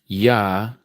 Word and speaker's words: Yahuah: But now, if I want to say Yahuah, that's a transliteration using English letters to make the same sound that you would use to make from Hebrew letters.